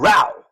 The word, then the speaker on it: Rao's: It's Rao's brand. Row.